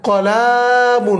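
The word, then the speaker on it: قَلَمٌ: কলামুন, এখানে মনে রাখতে হবে কলামুন টান যেন না পড়ে।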